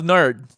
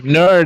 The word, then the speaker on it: NERD: I love nerd.